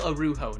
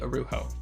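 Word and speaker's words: Araújo: hughes toronto raptors rafael arujo number eight overall in 2004. yes i looked it up even though it's not spelled like that that's how you pronounce it apparently arujo was a brazil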